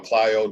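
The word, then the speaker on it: Clio: mccormick south carolina or i think it's pronounced cleo or clyo depending on where you're from you know um you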